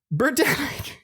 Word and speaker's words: Birdemic: Bird-emic, as in like it's a pandemic, but it's a bird-demic.